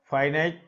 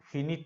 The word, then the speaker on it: finite: ফাইনাইট verb, ফিনিট না, এটা ফাইনাইট verb.